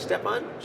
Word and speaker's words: Stefan Schwarz: Is it Stefan Schwarz? Yes, absolutely, Stefan There you Schwarz.